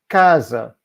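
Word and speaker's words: casa: you how to so Kaza the emphasis is on the a the first a because it's the penultimate syllable but there's no accent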